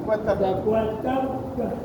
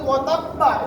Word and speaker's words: وتب: وتب মূল শব্দটা বেরোবে এখন অক্ষর শেষে যদি ওয়াতাব্বা স্পষ্ট করে পড়ে তাহলে ভুল হবে বা শেষে বা এই উচ্চারণটা একদম ভালো হবে ওয়াতাব وتب ওয়াতাব وتب ওয়াতাব وتب শেষের বাদে উচ্চারণটা এই উচ্চারণটা একদম হালকা করে হবে আচ্ছা আমরা আমাদের